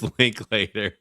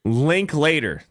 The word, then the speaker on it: Linklater: How do you pronounce his name? It's Linklater. Linklater.